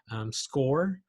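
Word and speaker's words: Scoir: students have access to score and that's the way that one is pronounced SCO ir is score and California colleges edu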